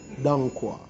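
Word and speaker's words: dong quai: It is called dankwa. We actually spell it Tangkuei, but other spellings of it is Dongqua.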